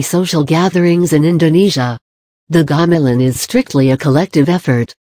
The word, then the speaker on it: gamelan: Gamelan. Gamelan, pronounced gamelan, is the biggest form of traditional music in Indonesia.